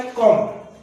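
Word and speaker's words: comb: यहाँ पर बी आपके प्रोनाउंसिएशन में नहीं आएगा। सेकंड आता है कॉम।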